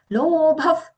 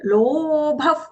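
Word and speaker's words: लोभः: The same word there, the bha mahaprana followed by that visarga, which is being pronounced as fa because it is followed by the letter pa in the word pravritti.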